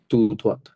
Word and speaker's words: tout droit: continuer, continue continuer, continuer, o, u, a, o হবে toute tout না, droite, টি silent. টিওইউ টু। টিওইউ tout, টু। হ্যাঁ, টু tout droite, টু ধোয়া এখানে silent. টি droit, silent না, droit, টু ধোয়া। tout droit.